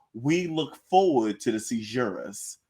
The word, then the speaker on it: caesura: Like Is we're it about to pronounced do like right that now. though? Caesura, Caesura. Caesura. So yeah, you said Caesura. Caesura, Yes. with like a Z, like Caesura. like Caesura. Zura.